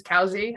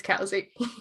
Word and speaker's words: Covesea: caves even though it says cosik's it is cowsy i spent two months on my phd pronouncing it wrong until finally my supervisor had to pull me aside and be like alex it's casey you need to at least pronounce the name